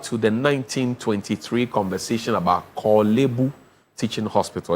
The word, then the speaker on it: Korle-Bu: It's not Korle-Bu. It's Korle-Bu. The Korle is there, so Korle-Bu Teaching Hospital. Now, I have it's Ghana man, so it's appropriate that we even learn the right pronunciation of Korle-Bu and there's Korle-Gono on